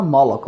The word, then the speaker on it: Moloch: दे रखे मॉलॉक, pronunciation इसको करना मॉलॉक, मॉलोच नहीं, मॉलॉक, MOLOCH, would not help the corn to grow.